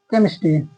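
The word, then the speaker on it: chemistry: एस टी आर वाई तो यहां पे पढ़ेंगे केमिस्ट्री केमिस्ट्री ना केमिस्ट्री गलत हो जाएगा केमिस्ट्री केमिस्ट्री तो यहां पे एच साइलेंट है और नेक्स्ट टेक्नोलॉजी टी ई सी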